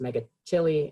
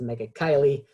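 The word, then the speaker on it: Megachile: substrates as well and as much as i want this to be called to be pronounced mega chili it's not it's mega kylie and it's the family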